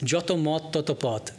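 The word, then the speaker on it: যত মত তত পথ: But the original Bangla is Joto Mot Toto Pot, which is a rhyming, right? And they're all monosyllables. Joto Mot Toto Pot. Well, Joto and Toto are two syllables, but short syllables.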